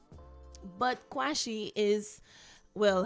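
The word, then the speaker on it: Quashie: pronouncing it properly right some people say it's probably quasi but you'd find the spelling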